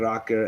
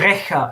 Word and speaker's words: Rächer: Der Racker erwacht. Or how do you say that? Der Rächer erwacht.